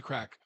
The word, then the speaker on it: craic: And by the way, to go back to crack.